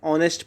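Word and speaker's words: honest: Start होते हैं, लेकिन इन सभी का जो एच है ये क्या है, साइलेंट है। एच क्या है, साइलेंट है। हम हॉर नहीं पढ़ते हैं, हम और पढ़ते हैं, हम ऑनरेबल पढ़ते हैं, हम ऑनेस्ट पढ़ते हैं।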